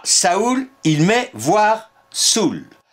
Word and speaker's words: saoul: l'idée de Voltaire à saoul il met voir Saou à Saou il précise on ne prononce point l'ail final on écrivait autrefois saoul